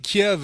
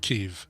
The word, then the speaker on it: Kyiv: So correction, Kiev is the Russian pronunciation of Kyiv. That's where it came. It wasn't the Anglification. It was the Russification. It was the Russianification. So Kiev is Russian.